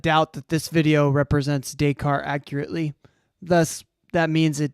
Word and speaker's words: Descartes: Descartes. Oh, ES. Because it's French. You like French. You just understand that you don't pronounce like half the letters in a word. They're just silent.